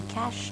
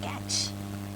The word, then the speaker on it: cache: So the how you need to pronounce it's going to be cash not catch.